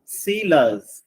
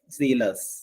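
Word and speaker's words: zealous: passive fourth one ഇതാണ് സീലസ് ഇസഡ് ഇ എൽ ഓ യു എസ് ഇസഡ് ഇ എൽ ഒ യു എസ് സീലസ് സെലസ് എന്നാണ് ശരിക്കും ഉച്ചാരണം ഇസഡ് ഡി എൽ ഓ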